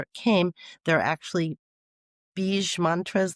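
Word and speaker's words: bija: came there are actually bee mantras they call them B it's spelled B I J A but it's bee mantras and these are sacred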